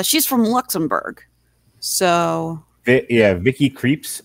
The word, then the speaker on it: Vicky Krieps: from luxembourg so yeah vicky creeps i believe is how they pronounce it on critically acclaimed and